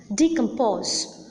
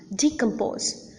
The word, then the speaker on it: decompose: little less prominent than the last syllable, and that is the first syllable of all the words that I have mentioned just now. Disappoint, entertain, understand, decompose.